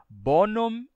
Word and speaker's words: bonum: pronuncia Bono amicum mas se você for dizer bonum virum você não vai dizer com o m mudo você pronuncia e você diz bonum virum bonum virum nesse caso o m é pronunciado bonum virum mas em